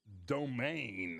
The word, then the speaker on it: Dominique: I was told they pronounce that domain a little different pronunciation I know look like domain uh well take a